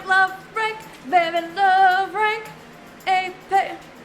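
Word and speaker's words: épée: Epee! You pronounce it as melee.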